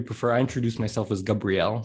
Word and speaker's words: Gabriel: i introduce myself as gabrielle it's kind of like a hebrew pronunciation okay um but uh